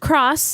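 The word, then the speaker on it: χ: Hearts Union cross no it has an X but it's pronounced cross yes Japanese yes and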